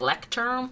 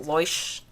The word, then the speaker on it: Leuchtturm: But this is a Leuchtturm, I think is how you pronounce it. Some people pronounce it like Lecturm or something, but I think it's pronounced Leuchtturm.